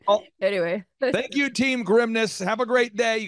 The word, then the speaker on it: Grimnes: Add an S, you will pronounce it correctly. Yeah. So think of it. My dad would say, think of it as, like, don't say this, Dad. He's like, think of it as, like, the grimness of the situation.